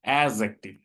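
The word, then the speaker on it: adjective: Clause কি জিনিস এটা আমরা কিন্তু বুঝে গেছি, এখন আমাদের দেখতে হবে যে অ্যাজেটিভ জিনিসটা আসলে কি, অ্যাজেক্টিভ, এখানে ডিটা সাধারণত সাইলেন্ট থাকে উচ্চারণের সময়।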